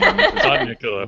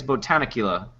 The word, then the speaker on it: Botanicula: Bodnicula. What? Repeat it. Bodnicula. So, yeah. Botanic. I think it's Botanicula.